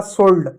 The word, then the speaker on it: scold: अब देखो SCOLD, एस का क्या होगा? स होगा, ओ का ओ की मात्रा होगा, एल का लव है, डी का डव, होगा सोल्ड, सी साइलेंट होगा, सोल्ड।